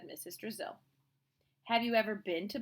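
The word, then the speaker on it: Drazil: "It was just a little joke. Brazil rhymes with Drizzle. I thought it might help you remember my name."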